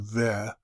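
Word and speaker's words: ו: And I follow the pronunciation ve.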